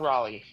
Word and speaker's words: Raleigh: It's pronounced the same way as the city in North Carolina, my friend. Cal Raleigh.